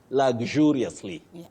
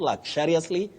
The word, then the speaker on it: luxuriously: You say luxuriously, luxuriously, not luxuriously, luxuriously, and all that. Avoid those. You say luxuriously, just like injure and injurious.